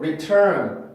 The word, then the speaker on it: return: 되는 단어들이 있는데 두 번째 규칙을 만족시키지 못하기 때문에 그래요. 두 번째 규칙은 제가 다시 한번 말씀을 드릴게요. 자, 일단 그래서 이 단어는 플랩을 할 수 없고 return, return, return, return, return, return 이라고 발음을 해줘야 됩니다.